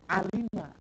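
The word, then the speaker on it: علم: mim ini bacanya apa kan tahunya alama kalau kita nggak baca kamus itu alama kita tahunya padahal alima gitu alima makanya kan kita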